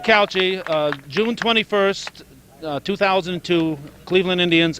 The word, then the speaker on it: Couchey: Sid kouchi Cao chia is a calculator I pronounce it said kouchi June 21st 2002 Cleveland Indians at Montreal so